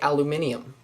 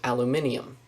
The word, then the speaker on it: aluminium: your nasal nasality um aluminum British people say aluminium the original way to pronounce it was aluminium um I looked on Wikipedia for some reason Americans pronounce Americans and most of the other rest of the world the that speaks English says aluminum not aluminium and their abbreviation for